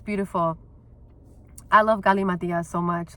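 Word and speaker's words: Galimatias: So I also, today was so fucking great too, because Gali Matias, that's how I say his name.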